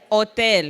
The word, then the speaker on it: hotel: do you say hotel hotel right remain Spanish H at the beginning of a word we pretend it's not there we have to real